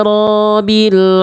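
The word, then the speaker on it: رَبِّ: Ketika ba bertasydid, nggak dibaca tasydid. Ba-nya tidak dibaca tasydid. Ba-nya nggak dibaca tasydid. Ini salah besar. Kenapa? Karena seperti teman-teman sedang menghilangkan apa? Huruf ba sukun. Contoh bacanya gimana, Bang? Gini. Alhamdulillahi rabbil alamin. Ini kita berbahas ayat kedua nih. Jadi ro-nya jadi panjang, ba-nya nggak ditasydidkan. Itu dua-duanya bisa jadi kesalahan besar.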